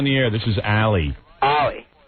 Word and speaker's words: Ollie: Ollie. Ali? Ollie. Well, I thought you were a chick. Thanks. When I see A-L-I, I'm saying that's a girl. Well, it's pronounced O-L-I-E.